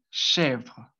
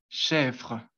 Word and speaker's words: chèvre: Entonces, la primera palabra, que sería cabra, se pronunciaría chèvre, chèvre. Sí, la primera es un poco complicado de pronunciar porque tiene pues esa perdón, esa R que pues en sí es como, digamos cuando uno hace gárgaras con agua.